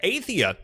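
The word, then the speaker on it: Athia: change of pace project a Thea is how you pronounce that has been announced it's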